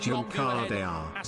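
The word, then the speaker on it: Juncadella: Also, it's pronounced Junkadea for future reference.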